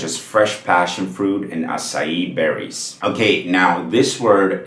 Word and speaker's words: açaí: It's gotta be acai. The emphasis on the last syllable, which is the E sound, right?